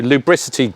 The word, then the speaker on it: lubricity: Is it lubricity?